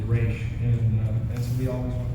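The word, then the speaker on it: Ra's: He said it's RAS and with the accent on it is Raish, and so we always went with that.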